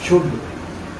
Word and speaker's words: should: एल शुड, SHOULD शुड, कुड, वुड। हम इसको शुड SHOOD शुड, WOOD वुड। वुड और वुड, WOOD। इसमें L silent है, इसको हम शुड, वुड और वुड पढ़ेंगे।